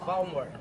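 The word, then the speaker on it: Valmor: your name for me again my name is Balmer b spell that Balmer going to be V as a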